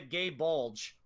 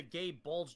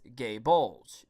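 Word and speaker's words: Gáe Bulg: in a joking sense, people pronounce it as gay bulge because of how gay bulge is spelled.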